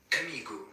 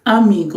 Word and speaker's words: amigo: In Portuguese, O often sounds like oo when it is at the end of a word and when it is not stressed.